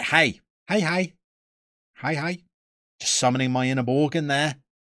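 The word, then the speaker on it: Borgen: Just summoning my inner Borgon there. Not my inner Bourbon. No, not the biscuit. Borgon. Great Danish TV series.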